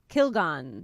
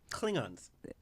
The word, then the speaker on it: Klingons: this word is uh kilgon no that's not correct klingons is that really how you pronounce it yes oh i was gonna try and make it really technical and it was not that at all klingons klingons is